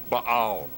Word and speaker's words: Baal: It's pronounced Baal.